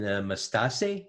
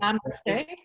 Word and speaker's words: Namaste: And Mastase, am I pronouncing it? Namaste.